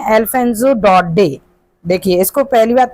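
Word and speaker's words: Daudet: इसके ऑथर हैं अल्फेंजो डडे। देखिए इसको पहली बात तो ये अल्फजो जो हैं इनका सरनेम इसमें टी जो है वो साइलेंट है। तो इसको पढ़ते हैं डो डे।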